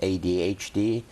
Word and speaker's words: ADHD: And ADD for short, for people who don't have hyperactivity, but it's classified as ADHD. I call it with a silent H.